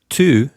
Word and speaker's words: tu: So the word tu means you. So Francois, give us a truly authentic pronunciation for the word tu. Tu. So the vowel U is said U in French.